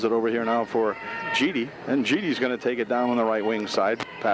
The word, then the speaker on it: Geedy: G-E-E-D-Y. Geedy. I guess they pronounce it Geedy. That's how it's spelled anyway.